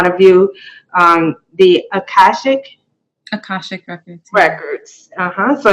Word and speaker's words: Akashic: hear you say it again what is the pronunciation for it Akashic records Akashic records ok so now is there